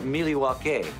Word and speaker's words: Milwaukee: this number going up even more actually it's pronounced Milwaukee which is Algonquin for the good land I